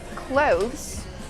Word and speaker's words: clothes: is an uncountable noun the word is not pronounced close close it's pronounced close close use the z sound with a voice like Zebra z clo these are cloth remember close has the same pronunciation as close as in close the door these are close and